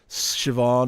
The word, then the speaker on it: Siobhan: like that or not you know so like Siobhan is pronunced it's spelled cyber hon and neither spelt